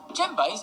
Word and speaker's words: djembe: Djembes are found in all different sizes, from big to medium to small. The djembe is a single-headed drum. Remember, the D is silent. Djembe.